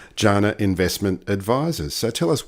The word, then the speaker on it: Jana: consultant with Jana Jana is that how it's pronounced that's right Jana investment advisors so tell us what's an asset